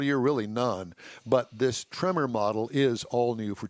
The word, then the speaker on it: Tremor: ranch tremor is a new trim level trimmer tremor t-r-e like the movie with well you new yorkers would pronounce it tremor tremor tremor i thought you were like trimmer like the guys in coming to do my